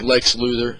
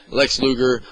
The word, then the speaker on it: Lex Luger: I kind of like Lex Luthor Luthor oh my god Luger I always say his name wrong Lex Luger I love Randy Savage